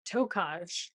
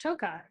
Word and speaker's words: Tokaj: I came in and I said something about Tokaj. Oh. And you said, oh, actually, it's pronounced Tokai.